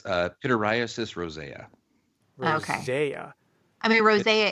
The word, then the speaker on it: pityriasis rosea: It's pityriasis rosea.